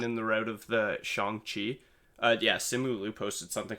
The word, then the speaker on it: Shang-Chi: like just honestly just listing like the proper pronunciation of it. It is Shang-Chi. Okay. I honestly did not know that until the tweet. I had thought it was Shang-Chi the whole time.